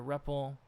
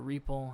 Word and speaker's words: REPL: up o we've got a reppel or reple however you prefer to com pronounce it uh you got all